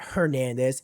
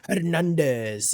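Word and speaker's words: Hernández: You reminded me of I had a Spanish teacher in college, and he was always like, "Your name is not Hernandez, it's Hernandez," and like he was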